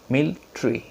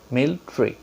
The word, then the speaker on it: military: one is involvement environment environment embodiment okay we pronounce military military but the nadis figure says military tree meal tree yes meal tree just repeat after me mail tree yes we pronounce bangladesh this is also correct